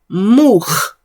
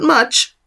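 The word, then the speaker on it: מוח: And this is the word mukh. Mukh. Not much. Mukh.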